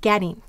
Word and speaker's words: getting: t's and we get getting. Notice the syllable get before the suffix ting or before the con is accented.